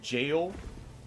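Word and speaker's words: Gaol: So, we want to head towards the gale here or the G. I think it's tech technically still pronounced jail because it's the old spelling.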